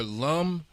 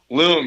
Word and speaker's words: L.U.M: Now I may be saying it wrong, but is it Loom or Lum? Loom, you got it the first Loom, time.